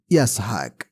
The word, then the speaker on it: ইসহাক: ইসহাক শব্দের উচ্চারণ ইয়াসহাক।